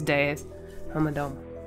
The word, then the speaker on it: Deus: I wish I realized that that's how you say his name earlier. It sounds so much cooler as Deus than it does as Deuce, like I was saying it.